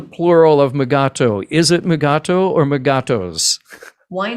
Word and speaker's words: Mugato: it comes to megato is mugato your preferred pronunciation um i i think only because uh i feel like ben stiller canonized it by having mugatu you know so and